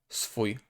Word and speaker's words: swój: Then we have S and W. Swój, swój, swój, swój.